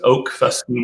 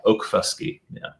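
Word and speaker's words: Okfuskee: It's Ofusky Whiskey. Am I getting it right? That's right. So it's Oak Fusky Whiskey. So kind of like oak tree, like for Oklahoma. And it's an Indian name.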